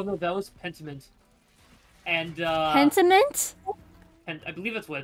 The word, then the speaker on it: Pentiment: And Pentiment? I believe that's what it's titled. Pentiment, yeah. Not Pentinent. Pentiment.